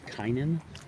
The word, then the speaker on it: Kynan: You know, my brother's name is Kynan.